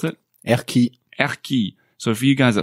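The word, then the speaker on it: Erquy: came to an unusually named town can you pronounce it ERI so for you guys at home it's e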